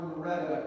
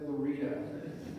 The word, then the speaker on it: Loretta: life correcting people who called her Loretta instead of Lorita which is odd because it's spelled Loretta so I don't know